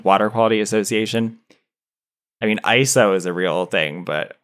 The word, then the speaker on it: ISO: ISO, which is the International Organization for Standardization, it's pronounced ISO. It is not ISO because it's not an acronym. It's ISO, like the Greek prefix ISO, which means same.